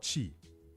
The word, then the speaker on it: chi: uh it means energy in Chinese it's called Chi CH hii yes chi in Japanese it's called